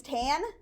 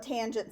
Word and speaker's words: tangent: it's abbreviated cos and this one looks like t-a-n which is tan but I'm going to think you're laying in a tanning bed if you say tan so call it tangent still okay got it